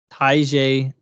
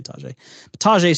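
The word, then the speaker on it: Tyjae: where we picked um Tai I've heard Taj but I also heard ta it's it's spelled ta but most people to say Taj Taj Spears who had uh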